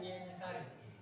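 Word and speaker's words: Yeniçeri: Tulisannya seperti ini. Tulisannya pakai Jenisari. Tapi dibacanya Yenisari.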